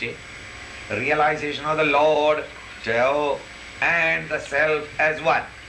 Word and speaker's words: Tao: How do you pronounce it? Tao.